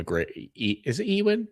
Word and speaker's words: Ewan: Uh, I I mean, I am a big fan of Ewan McGre is it Ewen? Ewan Ewan. Ewan. Oh, wow. Oh, I've been pronouncing that wrong for 30 years.